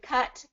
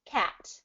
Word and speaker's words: cut: so now you're saying it so now do cut cat cut cut yeah there you go yeah so